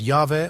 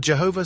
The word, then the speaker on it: Yahweh: He said, "Modern grammarians argue that it ought to be read Yahweh or Yahweh, but Jehovah seems firmly rooted in